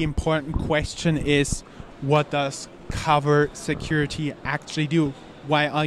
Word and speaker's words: Covr: This time Covr, how is it pronounced? Covr Security. I'm sorry, it's Covr Security.